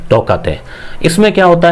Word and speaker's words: Tauktae: तो इसमें क्या है, कई के या कई टी साइलेंट रखते हैं, तो ये ताऊते भी हो जाता है, तोकते भी हो जाता है। म्यांमार ने ये नाम दिया है तोकते।